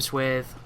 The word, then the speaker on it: Swathe: But when we do go back there, it turns out Flame Swathe, or Swath, depending on how you say it, is pretty fucking powerful.